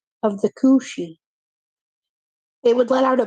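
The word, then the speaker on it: Cù-sìth: you like being like being killed by the Kushi is how you pronounce it or the green dog of the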